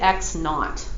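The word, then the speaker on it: x₀: The way that is read, though, I don't read X sub 0. I read it X naught. That's how you pronounce it.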